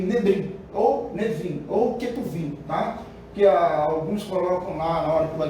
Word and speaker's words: Ketuvim: Nebrim, ou Nevim, ou Ketuvim, tá? Que alguns colocam lá, na hora que vai colocar lá, na escrita, por exemplo, coloca Nebrim, mas lê-se Nevim, tá? Outros colocam Ketubrim, mas lê-se Ketuvim.